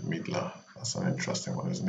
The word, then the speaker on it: Midler: i just realized that fiddler rhymes with midler that's an interesting one